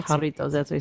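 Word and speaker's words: Jarritos: We're supposed to It's spelled with a You say haritos. I don't know. Haritos. Haritos. Oh, it's pronounced haritos.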